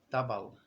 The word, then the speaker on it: Tobol: uma derivação né então o nome original seria tobol ou com a pronúncia Rússia tabal aí tobal ou tabal